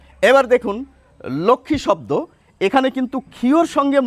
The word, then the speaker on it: লক্ষ্মী: এবার দেখুন, উচ্চারণটা হচ্ছে লক্ষ্মী।